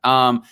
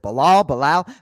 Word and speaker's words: Belal: Belal, I wanted to ask you, like, do you prefer Belal or Belal?